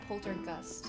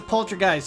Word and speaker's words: Poltergust: something like this you you did you miss pronounce something it's Poltergust Jason yeah it's a poltergeist did you say no it's a poltergeist it's